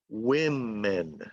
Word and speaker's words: women: pronounce the plural is you change the sound of the O. So one woman, but two women. So the I sounds like an I. One woman, one woman, but two women. Two women, women.